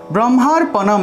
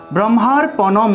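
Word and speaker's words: ব্রহ্মার্পণং: ব্রহ্মার্পণম, এখানে একটি রেফ আছে, ব্রহ্মার্পণম, ব্রহ্মার্পণম অনুসার থাকায় উচ্চারণটা হবে ম, অনুসার থাকে উচ্চারণ ম, তাহলে অম ব্রহ্ম অর্পণম ব্রহ্ম।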